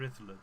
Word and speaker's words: Rhuddlan: you're into the castles, it's not far from Rhuddlan Castle, or Rhuddlan Castle as I should pronounce it.